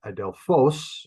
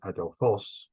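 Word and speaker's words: ἀδελφός: learn the word like adelphos remember like brother Bill Adelphia Brotherly Love or love a brother adolphos is brother and the accents on the end it's a smooth breathing adolfos oh and so when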